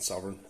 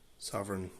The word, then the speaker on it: Sovrygn: have it the sovereign unusual spelling but it i believe it's pronounced sovereign and this is the